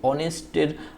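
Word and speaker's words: honest: এখানে দেখো এই যে অনেস্টের শব্দের প্রথম অক্ষর অর্থাৎ এই যে এইচ, এটা কিন্তু মূলত একটি কনসোনেন্ট, কিন্তু অনেস্ট উচ্চারণটা মূলত হচ্ছে অ। এই যে অ, এই অটা অনেকটা ভাওয়েল সাউন্ডের মতো, যার কারণে এখানে কি বসছে, তোমার হচ্ছে এন বসছে।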